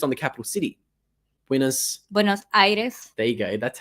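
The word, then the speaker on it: Buenos Aires: everybody's just focused on the capital city buos buenos Iris there you go that's how you say it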